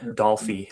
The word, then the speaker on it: Dolphy: So Yeah, Dolphy is the way that one's pronounced.